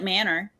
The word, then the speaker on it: Manor: It's spelled like manor, but it's pronounced Manor.